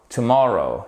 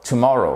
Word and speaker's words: tomorrow: Tomorrow. Tomorrow. Vous voyez ici, vous avez votre apostrophe qui signifie que c'est cette deuxième syllabe qui est accentuée. C'est pas tomorrow. Non, c'est tomorrow.